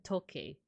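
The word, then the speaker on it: 時計: So talk, you find that sound in toke. But if you say it like in an Americanized accent, but you would pronounce it toke.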